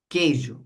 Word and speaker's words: queijo: Por exemplo, quando eu digo assim, ó, queijo, esse U é pronunciado? Não, ele não é não. Não. Tanto é que a gente vai pensar assim, ó. Queijo. Tá vendo? Então esse que Ue som mesmo do K.